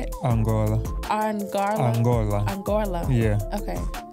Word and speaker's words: Angola: Angola Angola yeah how do you say it Angola Anga Angola Angola yeah okay so yeah my